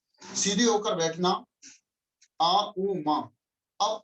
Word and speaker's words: ओम: ओम के उच्चारण का तरीका, हम नर्वस सिस्टम को रिलैक्स करने के लिए, कुंडलिनी शक्ति को जागृत करने के लिए आ उ मा, सीधे होकर बैठना, आ उ मा।